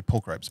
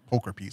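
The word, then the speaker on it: pulchripes: mispronounce it poker piece i always want to say poke ripes but i've been correcting it recently it's poker piece i believe don't worry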